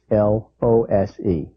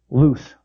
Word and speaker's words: lose: oo s D versus l o se the first is loose the second is lose in fact they have the same vowel sound oooh lose loose the difference between two